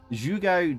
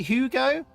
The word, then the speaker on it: jugo: Jugo de Calabaza is pumpkin juice. Oh, sorry, Hugo? Do you pronounce it Hugo? J's like a H, isn't it?